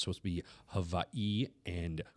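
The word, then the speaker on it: Hawaiʻi: So with the apostrophes, you're supposed to put an emphasis on the second syllable. So it's supposed to be Hawaii and Kauai and stuff like that.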